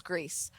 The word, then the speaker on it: Gris: Which I didn't know was pronounced Grease. I thought it was pronounced Gris. So did I. Yeah, when they pronounced that's how they pronounced it when it won, was Greece. Greece. I think it's like French or something.